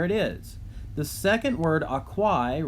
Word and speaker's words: aquae: copied down from above, aquae, the genitive, and then the dative happens to be the same because the dative ending is, again, I, which is spelled A-E.